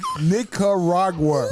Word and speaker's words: Nicaragua: Listen, y'all know I can't pronounce the word Nicaragua. Ooh, yeah, say that slower than bro. Because it ain't nigga. It ain't nig in there. It's Nicaragua. I said Nicaragua. It's Nick. It's got a in it.